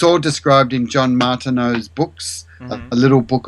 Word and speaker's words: Martineau: It's spelled Martin, Martin, Eneau, like water, Martineau.